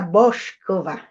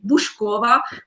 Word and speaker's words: Boušková: were saying Bush Bush Kova miskova was always very different but my name is actually pronounced exactly how it's written so we pronounce every letter how it is written so buh-buh-bah it's like